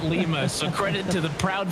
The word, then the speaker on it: Lima: life for singing a city name wrong Lima not Lima so credit to the